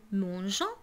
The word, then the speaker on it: mangeant: Et pour, quand on veut prononcer G, G, par exemple, comme mangeant, le mot mangeant, donc on ajoute un E muet.